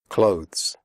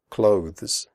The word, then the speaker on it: clothes: comfortable not comfortable comfortable clothes the final sound is of the followed by an S clothes if this is difficult for you just pronounce it like clothes as in close the door close answer the WC